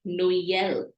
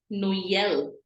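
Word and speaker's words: Noël: this word it's called No yell we have two different vowels in this o and E coming together and we are pronouncing both the vowels no e l no yell Christmas so trema in that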